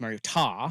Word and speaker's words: Mariota: Well, we know him now as Mariota.